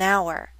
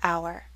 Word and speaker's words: hour: with the letter h but we don't pronounce the letter h the first letters that we pronounce are o in u that's a vowel sound that's why we say an hour not a hour an hour is correct